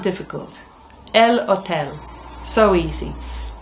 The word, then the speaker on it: hotel: El hotel. So easy. Just don't say the h.